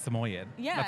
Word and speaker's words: Samoyed: saying it now like everybody pronounces samid about 70 different ways yeah see I was always like we were always I swear I think it's samoyed samoyed is how I've always said it so then the first